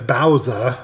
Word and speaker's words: Baozza: a i'm assuming it's bowser because bao b-a-o is pronounced bow um so bowser these